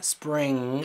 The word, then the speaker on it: spring: decir algo spring está spring la n no se pronuncia porque estás pronunciando el sonido spring te vas directamente a este sonido bueno eso es lo